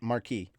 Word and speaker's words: Marquis: Yeah, Marquis. You don't. Yeah. The S is silent. Marquis.